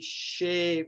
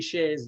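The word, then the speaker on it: Hsieh: made that the Tony Shea example is dropped in, kind of forced a little bit, but there's a good logic to it. I think most Americans and Irish pronounce it Tony Shea.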